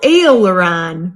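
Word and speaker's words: aileron: salad courses next arrow a LaRon rhymes with sailor John and comes from French now serve the a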